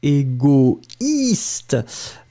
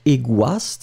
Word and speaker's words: égoïste: Don't forget the tréma on the I, because this is the reason why you will pronounce it égoïste, but not égoiste, hein?